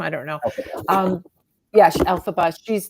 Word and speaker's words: Elphaba: which the book Wicked has the story of Ephelba, right? Ephelba? yeah. Is that how you say her name? I don't know. Okay. Yeah, Elphaba.